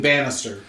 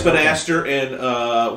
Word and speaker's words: Banastre: Is that how it's pronounced, Banastre? Because I was reading it, I was just thinking Bannister. You're right. We'd think that, but no, it is. It is Banastre. It is Banastre, and I'll use as my source for that.